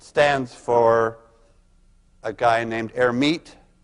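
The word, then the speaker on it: Hermite: for a guy named herit who didn't actually pronounce the h but let's pronounce it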